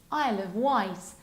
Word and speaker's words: Isle of Wight: This one is Isle of Wight. White as if it was a white colour.